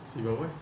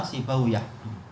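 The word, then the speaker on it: Sibawayh: begitu cara mereka membacanya memang sibaw sibaw yang betul adalah sibaauah kata mereka cuma yang terkenal kita bicara sibaw ini Ini kata para masyaikh kita yang betul adalah sibawiah sekarang rahawiah hah rahawi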